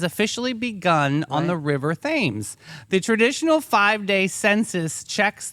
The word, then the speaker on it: Thames: It's spelled like Thames, Oh, but it's Thames.